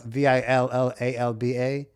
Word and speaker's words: Villalba: But like it's spelled Villalba, but the two L's in Puerto Rico make like a j sound.